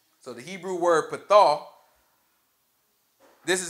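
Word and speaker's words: פָּתָה: So this word enlarge is actually a Hebrew word pronounced pathah. So the Hebrew word pathah, this is how it's translated in the King James Version.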